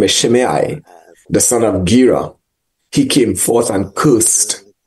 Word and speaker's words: Shimei: So in 2 Samuel 16, we pick up this account of this despicable man called Shimei. You may have your own pronunciation, but that's what I like. Shimei, right? S-H-I-M-E-I.